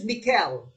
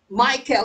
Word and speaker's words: Michel: okay yes some uh in french it's mikkel uh some people pronounce it michelle michael in english it's michael miquel de montaigne the